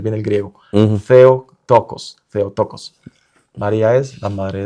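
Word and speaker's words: Theotokos: Entonces, el teococosm de hecho es esoococos y y lo lo pronunciamos bien el griego o trato de pronunciar bien el griego. Theo tocos.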